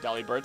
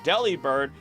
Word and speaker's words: Delibird: us why it's called Deli bird Del bird Deli bird mainly because the V sound just does not exist in the Japanese language and is often pronounced as a b now as for the